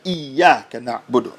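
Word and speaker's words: إِيَّاكَ نَعْبُدُ: So when he says Iyyaka na'budu wa Iyyaka nasta'in, he has to pronounce the shadda. Iyyaka na'budu. Iyyaka na'budu with the ayn.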